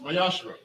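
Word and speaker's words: מעשר: You can find this in Numbers 18, verse 21, Malachi 3, verse 8 through 10, means tenth in Hebrew and is pronounced Mayashra.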